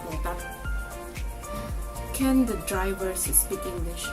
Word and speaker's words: Lotus: but for them it is called lotat. So if you go around asking for lotus, maybe no one will understand where that place is unless you say lotat.